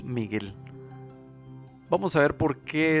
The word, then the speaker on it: Mijael: hoy veremos cómo escribir el nombre mijael que es cómo se pronuncia en hebreo pero en español decimos miguel vamos a ver por